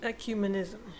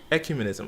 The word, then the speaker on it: ecumenism: I can't even pronounce the word. How do you say it? Ecumenism. Ecumenism.